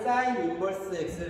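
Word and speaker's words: sin⁻¹ x: 그래서 y는 sin 인버스 x를 이거를 sin 마이너스 1제곱이라고 읽으면 안 돼. sin 인버스 sin의 역함수예요.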